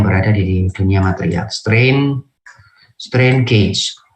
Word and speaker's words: gauge: Strain gauge, tulisannya gauge boleh, gage boleh, bacanya gauge, strain gauge.